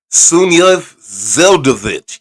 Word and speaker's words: Sunyaev-Zeldovich: It's Sunyaev-Zeldovich. You have to say it like a Russian.